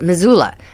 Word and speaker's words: Missoula: I should know how to pronounce this. Missoula.